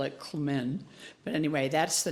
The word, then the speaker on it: Klmin: So that I'm wearing, I don't usually wear t-shirts to church, but the Chinook pronounce Klmin with the soft L, Klmin, and we all call it Klmin.